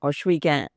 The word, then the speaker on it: Ohsweken: So the restaurant, Bobby's Grill, named after my father, was kind of a hub in the community of Ohsweken, or Ohsweken, as our people pronounce it, meeting of 4 paths.